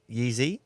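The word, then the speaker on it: Jiří: Alex Pereira and Yizi Prohaska. Yeah. So Czech fighter. I studied how to pronounce that, Yeezy.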